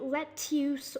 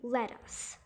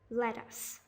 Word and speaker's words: lettuce: double o pronunciation but you're supposed to pronounce it as an uh pronunciation they say let's use or lettuce but it's actually supposed to be let us let us now the fourth one